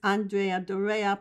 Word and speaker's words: Andrea Doria: He was scheduled to take the SS Andrea Doria, pronounced thusly, an ocean liner for the Italian line